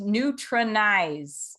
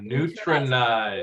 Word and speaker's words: Neutronize: you pronounce that supplement yes this is neutronize ah neutronize it's like nutrition and neutralize so like we're getting